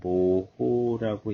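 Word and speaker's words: mho: 전기를 얼마나 잘 흐르게 하는지 단위는 말발굽을 거꾸로 한 거라고 표시를 하게 되고 읽는 거는 저거를 앞뒤를 바꿔서 모호라고 읽어요.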